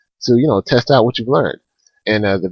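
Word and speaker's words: を: Things that are spelled out. Like if you would say Benkyo o shimasu, you would spell that out. Ben kyo. Then wo, which is pronounced o, and then shimasu, etc.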